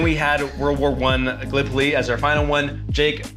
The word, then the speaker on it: Gallipoli: game right, because being from Iowa, I said Gallipoli, and it is pronounced Gallipoli.